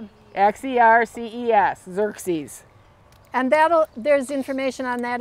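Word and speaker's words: Xerces: And if you are really looking for a good one, if any of you heard of the Xerxes Society, strange word.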